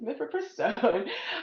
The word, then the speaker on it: mifepristone: So speaking of that can we discuss and please correct me if I mispronounce it mifepristone did I say that correctly?